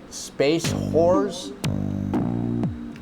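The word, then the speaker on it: Space Hoers: I have to say Space Horse, and I'm saying it that way very clearly, and I know it sounds like the word that's spelled with a W at the beginning, but it's not. It's H-O-E-R-S. It's not horse.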